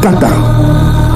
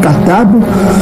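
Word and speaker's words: כתב: Hein, parce que la lettre finale ne se prononce pas en hébreu, en paléo-hébreu. Donc la lettre finale, la consonne finale ne se prononce pas. Au lieu de dire le katab, on dit kata.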